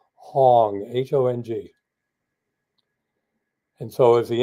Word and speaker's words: Hong: create the vibration of the sound of the syllable Hong, H-O-N-G.